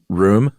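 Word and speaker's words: rheum: Uh r h e u m. Is that pronounced room? I think room, yeah.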